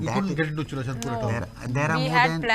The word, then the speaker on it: Churachandpur: Churachandpur.